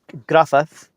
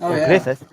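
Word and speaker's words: Gruffudd: The pronunciation is Gruffith, or Griffith, but you would say Grufford because two D's are TH in Welsh.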